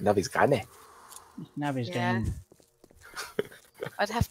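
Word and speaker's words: Navezgane: Oh, Navasgami. Navisgane. That's how you say it. Navisgane.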